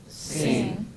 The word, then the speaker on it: zehn: Zehn. So if you have this letter, the pronunciation has to be like this. Yeah, like we say tsunami, no? Tsunami. How do we say that? Like that.